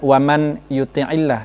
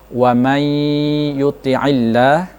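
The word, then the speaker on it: ومن يطع الله: Misalnya bukan waman yuti'illah, tetapi bunyinya adalah wamay yuti'illah, ya itu nun dihilangkan, mahdzub ya. Jadi wamay yuti'illah, nah, bukan waman yuti'illah, itu salah.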